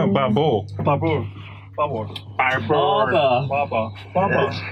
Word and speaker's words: Barbour: Bubble. No, Babel.